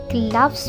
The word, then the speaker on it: cloves: क्लव्स बोलेंगे इसको, क्लव्स.